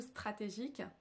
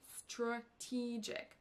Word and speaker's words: strategic: points différents STR strat on nentend pas du tout stratégique mais strategic strategic strat donc là attention